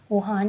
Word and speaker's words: Juan: तो फिर जो ये जुआन है, बार बार जो स्पेलिंग ऐसी है तो इसको ऐसे पढ़ा जाता है, बट इसकी सही प्रोनाउंसिएशन वुहान ही है, मैंने पिछली वीडियो में भी बताया था।